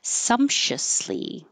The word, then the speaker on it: sumptuously: lot of air flow so there's options for this and um the shortest way is usually the more common way so you can choose whichever way you like and you look it up in the dictionary you'll see more options but sumptuously is the short way sumptuously a little bit longer